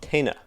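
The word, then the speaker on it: téna: they're in and they're are they called tena I'll let you pronounce for me they're called Tina Tina Tina the Tina are remarkably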